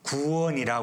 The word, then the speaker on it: 구원: 그 환경에서 나오는 것을 구원이라 그럽니다 구원 좀 길게 발음해야 구원을 받으며 받는다는 것은 누군가 주는